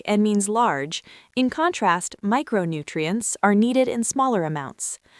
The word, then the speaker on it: micronutrient: The next word is micronutrient. 5 syllables. The primary stress falls on the first syllable, my. Say it slowly. Micronutrient.